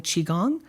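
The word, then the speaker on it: qigong: but I'm also um learning chiong it's spelled Qi g n g and what I've learned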